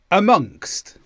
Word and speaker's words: amongst: 69 statistically 70 velocity amongst this is a preposition and the stress is on the word monkst amongst and this means within something